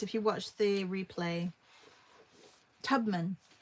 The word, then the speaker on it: Tubman: Tubman. Thank you, Lisa. Not Tubeman. Tubman. Hola. Okay, just hola. That's great. Yeah, Tubman.